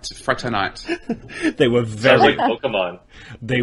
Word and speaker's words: fraternité: is motto which is liberté egalité a and fraternity I think you mainly right egalité fraternité they were very Pokemon they were very liberal